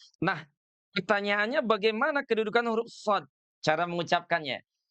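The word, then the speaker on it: ص: Nah, pertanyaannya bagaimana kedudukan huruf shad? Cara mengucapkannya. Huruf shad itu diucapkan dengan cara meletakkan ujung lidah kita ini di belakang gigi seri. Gimana ya?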